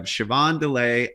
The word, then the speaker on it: Siobhan Dullea: I'm delighted to have Siobhan Dullea on the podcast. Did I pronounce that correctly, Siobhan?